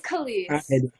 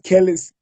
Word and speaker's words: Kelese: problem pronouncing your name like it's colleen i thought it was kelly's no i'm so used